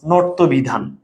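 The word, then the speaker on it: ণত্ব বিধান: বলো বানানে ইয়, উচ্চারণে দন্তন্য হয়ে যাবে, বানানের মূর্ধন্য, উচ্চারণে দন্তন্য হয়ে যাবে, ইয় দন্তন্য হয়ে যাবে, মূর্ধন্য দন্তন্য হয়ে যাবে। যেমন ভাইয়া খেয়াল করো, নর্ত বিধান, এই যে মূর্ধন্য আছে,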